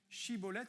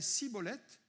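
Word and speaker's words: Shibboleth: Shibolette, ça veut dire torent. Et s'il prononçait sibolette parce qu'ils arrivaient pas bien prononcer les enfraim et ben il les tuait sur place.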